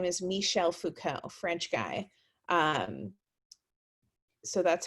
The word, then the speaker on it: Michel Foucault: bit um foucault is and his name is michel foucault french guy um so that's how you pronounce it he's well he's not around anymore